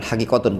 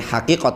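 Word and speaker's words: حقيقة: secara khotan Raven itu yang lebih tepat bacanya bukan hadiqotun tapi haqiqot and secara hakiki pin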